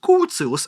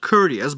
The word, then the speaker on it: Curtius: Similarly, when we look at the Curtius rearrangement, and yes, it is pronounced Curtius and not Curtius, but I digress.